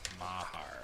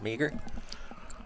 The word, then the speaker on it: Mahar: I thought it was Meager.